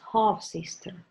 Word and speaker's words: half sister: This first syllable is stressed, half sister.